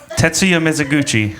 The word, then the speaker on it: Tetsuya Mizuguchi: Tetsuya Mizuguchi.